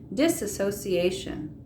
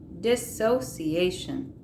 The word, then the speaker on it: dissociation: emotional takeovers by eips disassociation dissociation i'm saying it wrong dissociation is when you psychologically